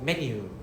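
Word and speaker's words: メニュー: So you have to pronounce this as me, not men. Alright, so me and then NYU. So menu. No, it's not N. So menu.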